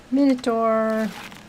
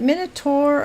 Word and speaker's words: Minotaur: I mean, some words, the AU is an ah, so it'd be Minotaur. But I've also heard people pronounce it Tor, like T-O-U-R, Tour, Minotaur. So I guess there's three ways: Minotaur, Minotaur, Minotaur, Minotaur, whatever. You could say it three different ways.